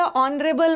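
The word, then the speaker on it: honourable: शुरू होगा an honest उसी तरह ऑनरेबल में एच साइलेंट है ऑनरेबल अब इसको हेयर मत मत पढ़ना।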